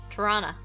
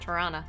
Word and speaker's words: Tirana: Tirana. That's how you know you're from there. You say it like that. Tirana.